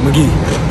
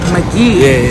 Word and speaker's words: Magee: your last name correctly McGee McGee everybody everybody say it wrong everybody spell it with either mc mc g e e that's how a lot of people spell it exactly so I said